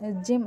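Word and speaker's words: gym: like young यक यड लेकिन जिम में वाय एज अ वोल प्रोनाउंस हो रहा है लाइक ई ठीक है नाउ मिस्ट्री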